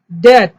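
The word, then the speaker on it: debt: স্টিউপিড বলা হয়েছে এটা, সাডেনলি, ড্যাট, এখানে বিটা সাইলেন্ট থাকবে, ড্যাট মানে হচ্ছে ঋণ, দানাপন হয়।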